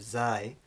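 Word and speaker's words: زاي: So we have zai, which is the English z, words like zebra.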